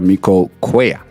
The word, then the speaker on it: Tamiko Cuellar: Tamiko Cuellar.